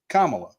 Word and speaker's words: Kamala: know until this year that her name was pronounced commala and before that before I had been corrected